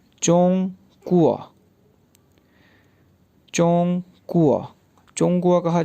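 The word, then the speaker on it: 中国: अब जिस मुल्क की ज़ुबान पढ़ी जा रही है उसको चाइनीज़ में क्या प्रोनाउंस किया जाता है। जी, चोंग कुआ, चोंग कुआ, चोंग कुआ, चोंग कुआ कहा जाता है चाइना को।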